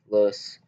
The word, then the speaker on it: loess: Both banks of the Yellow River had massive amounts of loess, pronounced like the English word less, a fertile sediment that allowed Shang-era farmers to grow a large surplus of food.